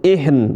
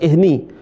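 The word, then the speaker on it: العهن: H sama ini semua nunnya jadi sukun ihn bukan ihni takunul jibalu kal ihn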